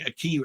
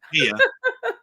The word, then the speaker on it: IKEA: And you and you were going, "A key." And I was going, "I'm pretty sure you know that's I might be wrong. It's not a furniture making place." So, no, that's not IKEA.